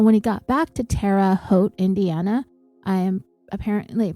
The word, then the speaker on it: Terre Haute: he got back to Terre Haute, Indiana, I am apparently pronouncing that incorrectly, Terre Haute. Terre, it's Terre, but we don't say Terry, we say Terra, and Haute, Haute, Terre Haute, Indiana.